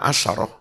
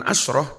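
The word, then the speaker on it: عشرة: bilangan satuan bukan belasan maka membacanya asarah Bukan asroh tapi asarah tilka asratung kamilah ya tilka asarotun kamilah bukan asratun kamilah ngerti ya cara bacanya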